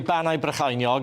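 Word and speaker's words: Bannau Brycheiniog: Banau Brychinog. You're pretty good, but need to work on the Brychinog.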